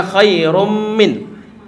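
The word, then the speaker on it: خَيْرٌ مِنْ: Sama juga khairum min. Seperti bacanya adalah khairum min.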